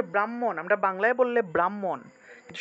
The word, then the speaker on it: ব্রহ্মা: আগে উচ্চারণ করে ফেলে অনেকে হ টাকে আগে উচ্চারণ করে অর্থাৎ ব্রাহ্মণ ব্রাহ্মা এভাবে উচ্চারণ করে ব্রাহ্মা এভাবে উচ্চারণ করে কিন্তু এটা আসলে ঠিক না কারণ আমাদের ব্যাকরণ নিয়ম